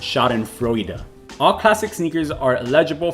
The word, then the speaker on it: Schadenfreude: fraud pool okay so google's telling me that that word is pronounced shot and froyda all classic sneakers are